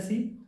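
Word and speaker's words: saw: देखने को बोलते हैं सी, और सेकंड फॉर्म, देख सेकंड फॉर्म क्या कहा, सा। प्रोनाउंसिएशन का थोड़ा ध्यान रखेंगे दोस्तों, सा नहीं होता है, इसको बोलते हैं सौ।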